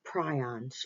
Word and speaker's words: prions: Okay, and this is prions, or you may have heard it pronounced prion. Either one is correct.